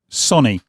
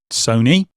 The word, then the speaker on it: Sony: you have it straight from the horse's mouth Sonny not Sony not Sony Sonny and no I still don't